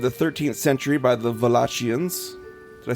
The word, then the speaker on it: Wallachians: It was constructed around the beginning of the 13th century by the Wallachians. Did I say it right, Josh? Yeah. Wallachians, yay!